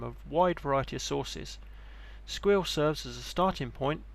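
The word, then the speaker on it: Sguil: single platform does this via the following tools squeal and that is how it's pronounced this provides a high-level cyber security analysts console for investigating security alerts from of wide variety of sources squeal serves as a starting point in the investigation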